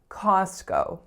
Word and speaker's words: Costco: strongest vowel and then the second letter O makes the sound o so we say Costco Costco next up we have